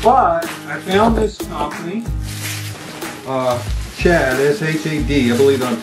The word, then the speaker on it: Shad: But I found this company, Shad, S-H-A-D, I believe I'm pronouncing it right.